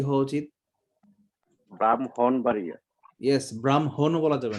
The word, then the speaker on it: ব্রাহ্মণবাড়িয়া: ব্রাহ্মণবাড়িয়া উচ্চারণটা ভুল, হ্যাঁ, উচ্চারণটা কি হওয়া উচিত? ব্রাহ্মণবাড়িয়া। ইয়েস, ব্রাহ্মণও বলা যাবে না, ব্রাহ্মণ। ব্রাহ্মণ ময় হয় সংযুক্ত, ময়ের সঙ্গে হয় সংযুক্ত, উচ্চারণটা কিন্তু কঠিন।